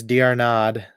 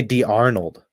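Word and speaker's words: d'Arnaud: back and now Travis drad who it took me two years to say his name properly but I can finally I used to say d Arnold and now I say it properly oh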